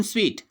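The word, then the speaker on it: en suite: जब भी हमने ये वर्ड देखा है या फिर लिखा है तो हम इसको क्या प्रोनाउंस करते हैं, सूट, जबकि इसका जो सही उच्चारण है वो क्या है, स्वीट।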